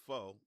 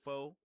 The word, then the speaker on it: pho: Don't be correcting me about pho, or pho. It's pho. Pho, pho. I don't care how they say it in Vietnam. I'm not Vietnamese. I say pho, not pho. I say pho, and I'm nice with it.